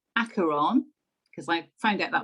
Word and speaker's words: Acheron: final season of the walking dead episode 1 acheron because i found out that was how you pronounce it it's greek it actually relates to